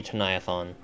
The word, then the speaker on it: Chauniathan: I don't know how I've been saying it this whole time, but it's actually Chauniathan.